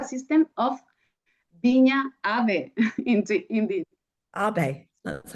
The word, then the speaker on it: Ave: Abe. That's how we should pronounce Ave.